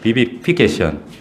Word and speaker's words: vivification: vivification. 근데 이게 V 발음이 잘 안 돼. 이게 V라 되는데 vivification이에요.